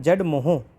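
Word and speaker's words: Z-Morh: इसको क्या बोलते हैं जेड मोह मोर एम ओ आर एच तो आर साइलेंट मान के जेड मोह टनल भी बोलते हैं ठीक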